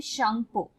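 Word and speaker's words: Tsangpo: शांगपो। ठीक है, टी यहाँ पे साइलेंट है।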